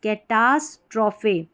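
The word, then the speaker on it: catastrophe: एस टी ए एस कैटास ट्रोफे कैटास स्ट्रोफे trophy T आर O trophy यहां पर कैटास्ट्रोफी ई का उच्चारण हो रहा है। इसमें ट्रॉफी करके पढ़ा जाता है।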